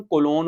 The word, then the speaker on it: कोलोन: ठीक है, अब ये कॉलन नहीं है, कॉलन के स्पेलिंग भी ये होते हैं, सेमी कॉलन, कॉलन के स्पेलिंग, कॉलन तो वो होता है 2 डॉट और सेमी कॉलन 1 डॉट और 1 कॉमा। ठीक है, कॉलन नहीं कहना, क्या कहना है? कोलोन।